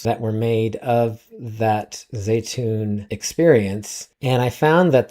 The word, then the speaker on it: Zeitoun: I was pronouncing that Zaitoun or Zaitou I don't know how I was pronouncing it last week, but the correct pronunciation is Zeitoun.